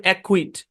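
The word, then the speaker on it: acquit: চলেন তারপর দেখি, সি কেও একসাথে থাকলে, সি কে একসাথে থাকলে অথবা সি কিউ একসাথে থাকলে সিটা সাইলেন্ট। যেমন ব্ল্যাক, লক, তারপর অ্যাকুইট, এখানে প্রত্যেকটাই কি সি সাইলেন্ট।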